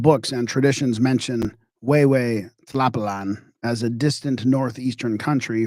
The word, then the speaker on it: Tlapalan: Okay, I'm gonna have to check pronunciation of this Tlapalan, who. I should know that, but I don't. Who? Check with my assistant here. Way, Tlapalan.